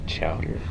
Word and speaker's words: Chowder: Chowder. Yeah, it rhymes with louder, so.